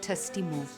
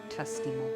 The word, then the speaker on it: t'estimo: ♪ Across the cloud ♪ - In Catalan, to say I love you, the phrase is t'estimo. It's T apostrophe, E-S-T-I-M-O. Pronounced t'estimo.